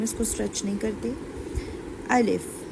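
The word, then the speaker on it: ألف: अलिफ अलिफ आपने इस बात का ध्यान रखना है कि इसको हमने स्ट्रेच नहीं करना। बहुत से लोग ऐसे पढ़ते हैं अलीिफ अलीफ ऐसे नहीं पढ़ना। ये रॉन्ग हो जाएगा।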